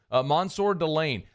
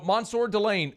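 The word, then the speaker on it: Mansoor Delane: is Monsour he'll make sure that you get that right away Monsour delay Monsour okay I like it very much mono Monsour delain Okay so we've learned something there that's that's already uh progress so Monsur Delane uh how big of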